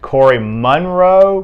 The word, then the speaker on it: Moraaux: They have another young man named Corey Monroe, but it's spelled Moraaux.